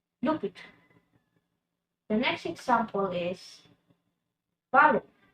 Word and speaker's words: l'hôpital: Put L apostrophe l'hôpital, l'hôpital. In the first word of the word hospital, we're gonna put the L apostrophe because it starts with letter H. And it's gonna be pronounced as l'hôpital, l'hôpital.